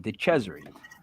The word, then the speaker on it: DeCesare: So then in July we have Matt Warner, and then in August we have DeCesare. Yes, I say it correctly. I'm Italian. DeCesare.